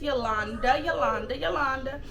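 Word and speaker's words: Jolanda: Yeah, you know how said this already, but my name is Yolanda. It's spelled with a J. Yes, it is. Yolanda.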